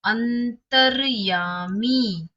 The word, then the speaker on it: अंतर्यामी: देखिए र का उच्चारण कहाँ सुन रहे हैं आप? अंतर्यामी।